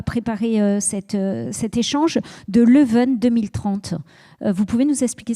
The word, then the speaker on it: Leuven: Vous m'avez parlé, quand on a commencé à préparer cet échange, de Leuven 2030.